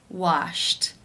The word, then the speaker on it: washed: In the infinitive, the final sound of the verb is p, which is unvoiced. Therefore, it is case 1, and the ed is pronounced as a t.